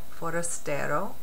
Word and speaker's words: forastero: It's spelled C-R-I-O-L-L-O, forastero, which is like almost like the word forest, but not really.